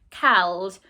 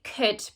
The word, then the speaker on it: could: what it is could could looks like ald cald we'd never say that we'd say could but you can say it that way to remember how to spell it have a go at